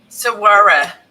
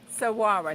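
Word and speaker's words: saguaro: We said how to pronounce that cactus grows. Sara. Sara.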